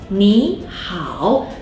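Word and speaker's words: 你好: When I pronounce 你好, did you notice that 你 in this situation will be pronounced as the second tone 你, even though both 你 and 好 are originally third tone.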